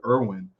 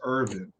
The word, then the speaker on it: Irwin: Apparently, like the real way or the correct way to say it is Irvin. You're supposed to put a V in there somehow. Yeah, it's German, right? Isn't it German?